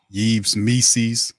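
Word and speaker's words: Yves Missi: defensive player shot blocker yees me rhymes with Reese's like DC says and he's a guy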